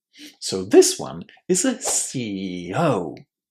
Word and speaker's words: CEO: as a separate syllable, we put the stress on the last syllable, always. So this one is a CEO.